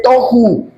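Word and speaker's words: Tohu: El acento en la última sílaba. El espíritu del vacío es boju y el del desorden es Toju.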